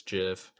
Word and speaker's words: GIF: scroller as well and i heard you pronounce it gif it's jiff and so we can